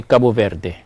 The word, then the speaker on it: Cabo Verde: Portuguese so for example somebody from Portugal if they were talking about kabo the country near us they would say Cabo Verde if somebody who is a Portuguese speaker from Brazil the same country he would pronounce it kab oh the D they pronounce with a J sound so it's the same